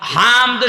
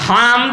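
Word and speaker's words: حمد: হামদ শব্দটা ভেতর থেকে উচ্চারণ করা লাগে, কারণ হামদ আর হামদ ছোট হার বড় হা দিলে আকাশ পাতাল হয়ে যাচ্ছে।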